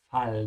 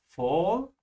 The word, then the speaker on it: Fall: Be careful with the A here. Open your mouth wide. It's fall, not fall. Look at my lips. Fall, fall.